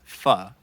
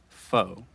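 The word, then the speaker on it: phở: to pronounce it is fo pronounced the same way as f-a-u-x and there's a few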